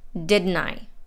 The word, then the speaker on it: didn't I: stressed and dress in the word didn't the t is dropped and n links right into the i and it sounds like didn't i is one word didn't i then we have tell